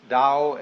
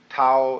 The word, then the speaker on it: Tao: the Dao ta AO pronounced Dao in the Mandarin dialect Tao in the changhai dialect